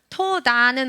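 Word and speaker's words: תודה: 자, 눈치 좋으신 분들은 자, 이거를 토라라고 읽었어요. 그럼 이거 밑에 있는 건 뭐라고 할까요? 토다라고 있습니다. 토라는 우리가 아는 하나님의 말씀 토라죠. 토다는 혹시 아시나요? 이스라엘 가서 네, 감사합니다. 고맙습니다. 라고 하는 이 토다는 이렇게 씁니다. 토다.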